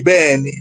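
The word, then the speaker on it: Beny: It's actually just Benny. B E N Y. It's spelled It's pronounced that way.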